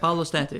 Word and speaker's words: Paolo Stante: We have Paolo Stante here. Did I pronounce that correctly? Yep, Paolo Stante, yep.